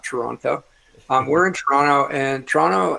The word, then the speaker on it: Toronto: And that, by the way, that is the right way to say it. It's not Toronto.